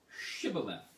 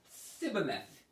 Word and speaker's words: Shibboleth: Then said they unto him, say now, Shibboleth. And he said, Sibboleth. For he could not frame to pronounce it right.